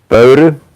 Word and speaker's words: Pöyry: How do you pronounce it? Pöyry. Oh, Pöyry.